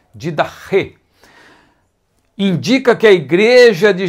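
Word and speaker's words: διδαχή: Alguns falam didache, uma pronúncia mais próxima do grego koine é didache.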